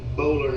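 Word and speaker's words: Boulware: that my friend Barrett Bowler has. That's who he works for. Barrett Bowler. Yeah, Junior. Yeah, I spell It's Bowware is how it looks.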